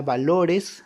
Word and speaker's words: valores: Si se dan cuenta, la palabra valores, ahí estamos sombreando la sílaba LO, ¿verdad?